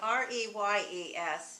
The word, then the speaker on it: Reyes: So R-E-Y-E-S is pronounced Reyes.